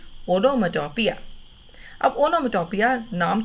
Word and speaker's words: onomatopoeia: We have now reached a very simple poetic device called onomatopoeia. P-O-E-A को पोइया नहीं बोलना. Speak the words with me please. Onomatopoeia. I repeat, onomatopoeia.